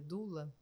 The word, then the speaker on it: doula: trabalhado né Lembrando que doula é uma palavra de origem grega que a pronúncia correta seria dla dla é mas a gente falaa doula eh no parto também